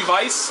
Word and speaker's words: Weiss: It's supposed to be Vice. I know that's a German name. Germans pronounce the W's as V's. But most people actually say Weiss now because, you know, most people around here aren't German.